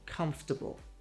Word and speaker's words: comfortable: But in English, nope. We crush it down to three. Say comfortable.